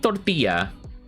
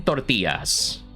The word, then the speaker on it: tortilla: I don't know about you, but whenever I see like a Spanish word, I always try to say it like the Spanish accent style. So, tortilla. If there's one thing that I like to do, I like to roll my R's.